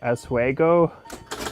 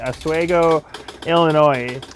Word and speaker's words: Oswego: see tito is in how do you say eswego i i'm terrible with pronunciation oswego oh all right let's see go west of